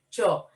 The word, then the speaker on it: Chaw: They're gonna be on top of each of the columns because it's spelled CHAW, Cho.